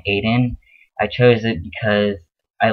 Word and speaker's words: Aiden: It's a boy male name, it's an Irish name, and it's pronounced Aiden in English.